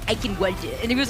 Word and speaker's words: Eichenwalde: So we're going to be looking out for that now as we get set up on Eichenwalde.